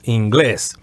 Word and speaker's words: inglés: And also, as you can see, the accent is over the E, so you would say inglés as opposed to inglés. In English, we would say English. The accent would be in the first syllable. In Spanish, it would be the opposite. It would be in the second syllable, inglés.